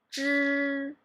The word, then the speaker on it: 知: you're going to pronounce, you need to curve back your tongue. So I will show you. I will say 知知 So can you feel that I try to curve back my tongue and pronounce them at the same time? Yeah, it's not a flat tone.